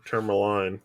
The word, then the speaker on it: tourmaline: that in the episode or ter turmaline teraline teraline necklace yeah I would say it's turmalin but we're continuing our